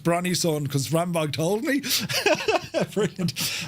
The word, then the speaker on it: Brønnøysund: I could have, if you weren't here, I would have said it's pronounced Brønnøysund because Rambog told me.